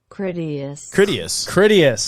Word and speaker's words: Critias: Okay, Joe Critias. is gonna ready. Critias.